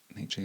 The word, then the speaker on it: Nietzsche: I saw Jimmy Carr say recently that Nietzsche is how you say it, he had a good line on resentment.